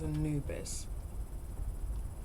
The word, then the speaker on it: Anubis: It's so Anubis? common you would think people have an almost unnatural fascination with death. Pretty sure that's not how you pronounce it. Pretty sure it's Anubis. Unless I'm just posh.